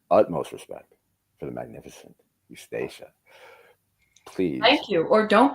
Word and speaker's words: Eustacia: Eustacia with a sh. Eustacia.